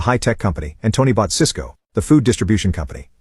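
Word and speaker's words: Sysco: Jack had told him to buy Cisco, the high-tech company, and Tony bought Cisco, the food distribution company. Both stocks are pronounced exactly the same.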